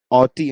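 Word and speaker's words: haughty: Okay ऑटी okay H silent ऑटी हम इसको pronounce करते हैं।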